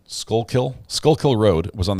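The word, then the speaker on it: Schuylkill: the gallery let's see uh sko school I said it wrong skull kill skull Kill Road was on the scanner last night at 1:00 a.m.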